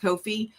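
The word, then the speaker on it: Ko-fi: It is pronounced Kofi.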